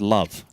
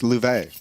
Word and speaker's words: Louvet: We discovered yesterday, Jason, it's not pronounced, his name isn't pronounced Love. It's Louvet.